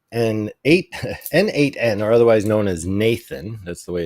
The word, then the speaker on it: n8n: 8 n 8 n8n or otherwise known as Nathan that's the way it's pronounced does a workflow app that Ross and